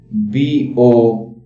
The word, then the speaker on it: Boer: All of them are pronounced Boer, but they have different spellings.